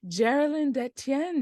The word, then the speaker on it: Jaralin Detienne: today we are joined with a costume designer Geralyn de Tien did I pronounce that correctly you did yeah good for